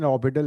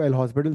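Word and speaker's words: L'Hôpital: हाँ बट वी, I mean pronunciation L'Hopital है, बट हम इसको एल हॉस्पिटल देसी भाषा में बोल सकते हैं.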